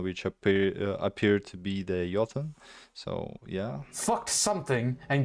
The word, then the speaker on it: Jotun: I don't know how to pronounce Motor? shit. Okay? It's known as a Okay, not motor. Jotun?